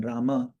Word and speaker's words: Rama: So if ours is a 32 syllable mantra and we're swallowing some of the syllables because we're saying Ram rather than Rama, then we're not chanting completely.